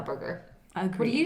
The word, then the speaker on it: Whataburger: everyone Yeah, 'cause says I'm- Waterburger. And I'm Yeah. like, that's not what it is, though. I feel like that's my accent, though, is that's why I Yeah. say Whataburger.